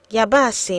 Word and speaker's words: Yabasi: words and phrases today's EO word is yasi yasi means onions learn how to say by repeating after me yasi Yas y you won't know how to say